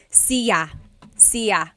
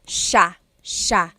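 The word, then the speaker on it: siya: It looks like it should be pronounced cia sa but it's actually pronounced sha sha.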